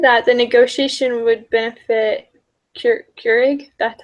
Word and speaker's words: Keurig: So I said that the negotiation would benefit Keurig.